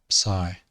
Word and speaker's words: psi: and lastly we have psi now if you think of the sound at the word of psychology but imagine that you're pronouncing the p at the start of psychology psychology that's what it